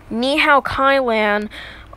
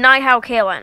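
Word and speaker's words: Ni Hao, Kai-Lan: Nihao Kai-Lan oh my god oh I mean night how Kailyn I know that it's pronounced Nihao kailan but it's just so much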